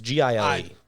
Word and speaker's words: Giel: Do we know how to pronounce it? It's Gile.